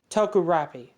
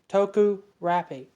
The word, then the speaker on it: Tokurapi: I don't know if I said this in the previous commentary, but the town's name is Tokurapi. Tokurapi. That's really the pronunciation of the town.